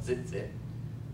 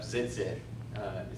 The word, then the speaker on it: tzitzit: you looked up tzitzit, it's got a T on the very front of it, and then a Z, so it's kind of like, don't try to spell it zit, zit, tzitzit, zit. Anyway, I don't know if the T is silent, but today you could